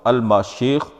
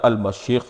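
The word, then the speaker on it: משיח: السلام ہی ہوتے ہیں۔ عبرانی میں المسیح کا تلفظ الماشیخ یا المشیخ ہے۔ اگر مسیح اسم فاعل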